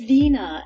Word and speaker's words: Veena: enjoy your name is Vina or am I pronouncing Orion it's Vina and in Costa Rica everybody says for English